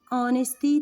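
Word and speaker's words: honesty: كايب ديبريسين اونستي تي اونستي طبعا والاتش سايلنت يعني ما بننطقهاش بننطق من اول الاو اونستي يعني الامانه اونستي سكول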